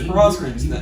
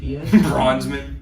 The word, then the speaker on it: Brosnan: I just recently learned how to pronounce Pierce Brosnan's last name. Yeah, for the longest time it was Bronsman. Bronzeman. That's how I would say it.